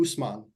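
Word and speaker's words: Ousmane: Claude 4.9 mcnight 4.3 who I can never say his name right and I'm gonna butcher it as always do us Usman usmani us how do I say it Abu Usman Usman there we go I say it I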